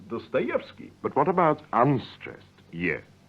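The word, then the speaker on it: Достоевский: Yes, the vowel ye is pronounced ye when it is stressed, as in Dostoevsky.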